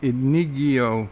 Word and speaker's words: Inigo: It's pronounced Inigo Montana.